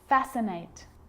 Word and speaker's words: fascinate: depth and doubt now the letter C can cause a few problems because it's often silent after the letter s like in these very common examples they're quite tricky muscle muscle scissors fascinate scene scenario muscle scissors